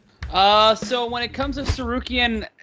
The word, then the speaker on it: Tsarukyan: We have lightweight Arman Tsarukyan via, did I say his name? Tsarukyan, yes, versus Christos Giagos via BetOnline.